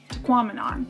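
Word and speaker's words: Tahquamenon: to pronounce this because they had a sign there saying it sounded like phenomenon so tequaminon we'll never forget it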